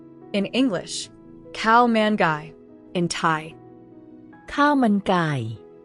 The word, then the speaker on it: ข้าวมันไก่: The answer is cow mangai. In English, cow manu in Thai cow.